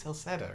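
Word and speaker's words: Celceta: So, but no, this game's like the Memories of Celset, or I want to pronounce it with a hard C, but it's someone pronounced it in game as Celseta or whatever.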